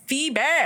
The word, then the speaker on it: Phoebe: another shout out to phoebe um someone has pronounced your name as foe before stupid i guess that's